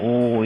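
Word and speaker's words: 惡: 악하다 이러면 악 그래야 되지만 나쁘다 이러면 오 이렇게 발음을 해야지 호 다른 사람의 좋고 나쁜 것을 말하지 아니하는 것이 시차귀의이니라.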